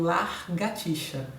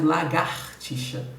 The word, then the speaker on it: lagartixa: O mesmo ocorre com largatixa, no lugar de lagartixa, né?